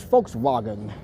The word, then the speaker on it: Volkswagen: German pronunciation is folks wagon.